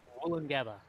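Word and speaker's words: Woolloongabba: Yeah, so it's Woolangabba. It was both woo, like with the U sound.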